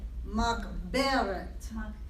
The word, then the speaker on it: Makberet: Mock Beret. Because remember the double segulate, you would emphasize the be. Okay. Makberet.